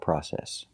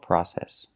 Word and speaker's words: process: can be a difficult process so remember the British pronunciation is process in England they say process what a a long process and in America we we don't we say process that will be a